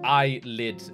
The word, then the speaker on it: ILLIT: I remember last time I kept saying well ill it because I thought that was how it was supposed to be pronounced but you guys told me in the comments that it's supposed to be like kind of akin to eyelit and just I guess